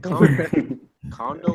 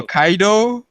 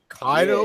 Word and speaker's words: Kaido: bro no no no no I said condo kaido however you pronounce it same oh kaido kaido you think how could you get kaido's name wrong bro my bad my